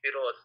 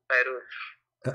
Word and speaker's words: Feroz: Actually, you are pronouncing my name wrong. It's Feroz, not Farooz.